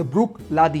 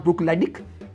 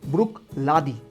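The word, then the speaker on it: Bruichladdich: It's called the ब्रुक लादी। इट्स नॉट ब्रुक लेडिक इट्स ब्रुक लादी।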